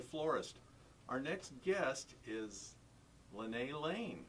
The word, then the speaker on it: Linne Lane: Our next guest is Linne Lane, right?